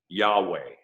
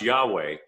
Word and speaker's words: Yahweh: so brilliant in that you and i can actually pronounce yahweh by breathing and i don't know